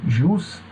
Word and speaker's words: jus: Você pode dizer ju privatum como privatum, não tem problema, tá? As duas pronúncias são corretas aí no latim.